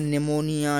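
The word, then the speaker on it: pneumonia: निमोनिया की जो spelling है याद रखना, एन से शुरू नहीं होती, पी से शुरू होती है। तो पी एन ई यू एम ओ एन आई ए, निमोनिया।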